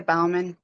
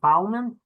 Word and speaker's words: Balman: miss Bowman good morning good morning it's Balman two on these things I'm just gonna call plth Independent um that's probably a lot easier um you pronounce it Balman Balman yes sir I'll make that change Mr